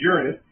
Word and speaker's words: Uranus: Uranus, or Uranus, I apologize, that's the correct pronunciation, is Uranus, was the goddess of the sky.